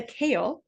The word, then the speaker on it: CAEL: We call this test the kale.